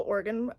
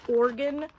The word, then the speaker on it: Oregon: here for some reason we say it organ like like an internal organ instead of Oregan Oregon like oregano I don't know I've